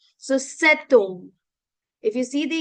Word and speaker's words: cet: So we have the tendency to pronounce the T at the end. Otherwise, et is A that we use for and, right? But here we pronounce the T because we have the rule of liaison that we call in French, right?